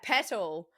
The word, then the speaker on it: Petal: In Australia we say pedal pronounce the t Oh, so we're not lazy in all of our Yeah, petal.